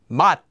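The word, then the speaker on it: 맛: This word is actually pronounced as mat, mat.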